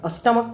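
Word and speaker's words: stomach: होता है सम्राट और स्टमक का मतलब होता रिपीट ठीक है लेकिन यहां गौर करें की मोनार्क का भी जो लास्ट में क है उसका परिणाम सेशन अर्थात उच्चारण हम के कर रहे हैं मोनार्क और स्टमक इसका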